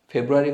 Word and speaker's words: Februar: বানানটা খেয়াল করবেন একটু। সো জানুয়ারিকে বলবো আমরা ইয়ানুয়া, ফেব্রুয়ারি হচ্ছে ফেব্রুয়া, মার্চ মেয়ার্চ, এখানে আউমলাউট মেয়ার্চ।